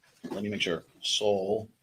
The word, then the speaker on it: Szalbirak: Jarek Szalbirak. Let me make sure. Szalbirak. Szalbirak. Can you spell that for us real quick?